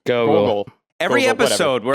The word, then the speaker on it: Gogol: as one of General Gorgle's... Gorgles? Is that how you say his name? Gorgles? Gogol.